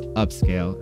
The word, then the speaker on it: Upscayl: Next up is my personal favorite, which is Upscayl. And that's Upscayl with a YL. U-P-S-C-A-Y-L.